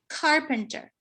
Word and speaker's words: carpenter: with the word carpenter normally your stress is on the first syllable carpenter but he moved his stress to the second syllable and it was still